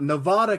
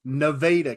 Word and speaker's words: Nevada: Western Arkansas we have it's not Nevada County it's nadaa County you have to know